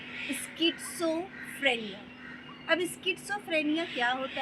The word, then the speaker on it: schizophrenia: लोग उसे शिज़ोफ्रेनिया कहते हैं, जबकि उसका करेक्ट प्रोनाउंसिएशन होता है स्किज़ोफ्रेनिया।